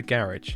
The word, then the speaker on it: garage: I say the garage. Yeah, it's garage. Garage. It's like G-A ridge.